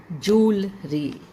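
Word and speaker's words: jewellery: बोला जाता है इसको इसकी प्रोनंसिएशन जू से होती है ज्वेलरी जूलरी ज्वेलरी अगर मैं आपको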